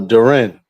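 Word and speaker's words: Durant: be on subject, but y'all pronounce my man Duran, but uh it's uh Duren where I'm from. That's how we say Duren.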